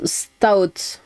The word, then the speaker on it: stout: Je suis toute se prononce stout, stout, stout. En une francisation grossière hein, le E étant muet. Et en une syllabe rapide et c'est euh le type de bière de la Guinness pour info.